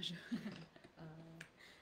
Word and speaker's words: jeu: What's un jeu? Alors, Comment c'est? Comment c'est un jeu? I don't know. qu'est-ce que c'est? Qu'est-ce que c'est? Un jeu. Jeu. It's exactly the same pronunciation as this one here.